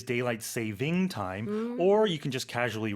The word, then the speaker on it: daylight saving time: They say daylight savings time, but technically it is daylight saving time, or you can just casually refer to it as daylight savings.